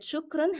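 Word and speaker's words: شكرًا: I want you to remember that shukran has to be pronounced always with the sound of n. It's part of the word.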